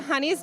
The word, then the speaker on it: Hunnies: We're called the Honey's Dance Crew, but it's spelled Hunnies.